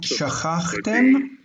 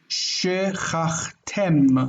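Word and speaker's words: שְׁכַחְתֶּם: But in the Bible, biblical Hebrew, the accent is shifted to the end. And so this distant, this near, closed, short syllable, distant reduces. Not shachachtem, but shechachtem. Shechachtem. Shechatim.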